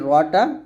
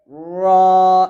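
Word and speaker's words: ر: বরাবর উপরের তালু লাগিয়ে এই রটা উচ্চারণ করতে হবে র র এরকম রা বলবেন না এটা হচ্ছে র র মোটা করে র বলতে হবে আর ঠোঁট কিন্তু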